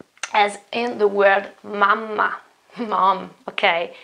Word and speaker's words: mamma: No, it is important to pronounce that double consonant, I have to stay there for a moment with my voice. Mamma, mamma.